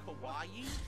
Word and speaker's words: kawaii: like a giant hot dog very good it's pronounced Kawaii I didn't even know that that pronounced Kawaii